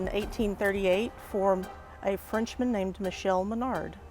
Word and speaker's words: Michel: for a Frenchman named Michelle Menard it's not pronounced Michael which sometimes people think we are on 33rd